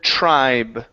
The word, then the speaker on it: tribe: Let's go to the word tribe. Pronounce the B at the end of the word.